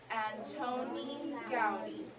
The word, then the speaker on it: Antoni Gaudí: So let's all pronounce it together. Antoni Gaudí. Let's all read his name. Antoni Gaudí.